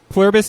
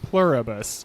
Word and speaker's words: Pluribus: I I always I mispronounced this on purpose as a joke to my wife and because of that yeah because of that I say it wrong other times pluribus like from the plurus